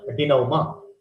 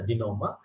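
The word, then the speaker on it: denouement: is the climax in the greek term called dinoma don't pronounce it as a denominator it's a dinoma but the spellings is like this the spelling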